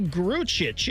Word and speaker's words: Grucic: But Matthew Grucic is what I get, is the correct pronunciation of the player that Jake Diebler added to his roster.